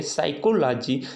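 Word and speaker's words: psychology: आप देख सकते हैं साइकोलॉजी साइट्रिक और यहां पर तीसरा है साइकोथेरेपी ठीक है ना यहां पर हमारा क्या है यश के पहले जो पी आया है उसको हम क्या पढ़ेंगे साइलेंट पढ़ेंगे इसे नहीं पढ़ेंगे हम क्या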